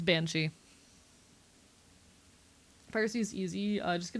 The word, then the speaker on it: Banshee: Because in my conlang it is a Bianchi. So sometimes my brain defaults. It's Banshee.